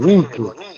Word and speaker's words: Nike: Que no hay que pronunciarla al modo inglés, sino al modo griego, Nike.